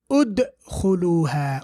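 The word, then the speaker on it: ادخلوها: So we have here udkhuluha. Why do we say ud? Because the third letter has got dhamma. Ushdud. Why do we say ush? Why do we say u? Because the third letter has dhamma.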